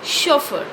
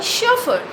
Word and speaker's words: chauffeur: driver is known as chauffeur okay so i am a chauffeur it is starting with a consonant sound sha sha is a